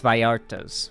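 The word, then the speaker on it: Vallartas: It's spelled V A L L A R T A S but it's Vartas cuz you know.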